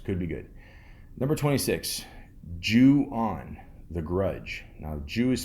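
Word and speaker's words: Ju-On: know who knows could be good number 26 jewan The Grudge now Jew is spelled j u-o n uh in the brackets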